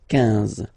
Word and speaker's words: quinze: Okay, same thing here. U doesn't exist, so quinze, quinze, quinze.